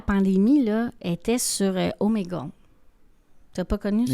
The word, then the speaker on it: Omegle: Ah, je l'ai pas bien prononcé. Ouais, Omega, non, Non, OK, c'est Omegle.